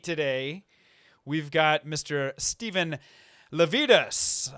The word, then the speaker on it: Lavedas: got Mr Steven lavidas am I saying that right Stephen you did I have had a lot of practice at this point given that I've spelled your name wrong and all for those that that need the the memory thing it's uh lvus like fajitas uh that's what I'm